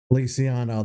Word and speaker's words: Feliciano: This detailed recollection from an adventure nearly a decade ago begins with Anthony Feliciano and Bo Feliciano, that's how you pronounce his name.